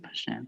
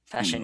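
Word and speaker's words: Paschen: I was like, isn't it Pashan? Yeah. Pashan, yeah.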